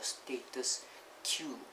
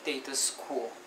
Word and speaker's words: status quo: status quo it actually status core is it pronounced status core or status queue status course quo or status queue q that's